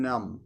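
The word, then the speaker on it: Hrim Nam: And mentally vibrate Haim Nam, Haim Nam. The second syllable is Nam, N-U-M.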